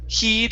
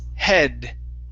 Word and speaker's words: head: Okay, this word here, instead of heed, it's head.